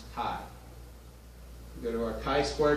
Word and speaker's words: chi: fit test and chi square it looks like chai or chi or shy but it's pronounced chi we go to our chi-square test our observed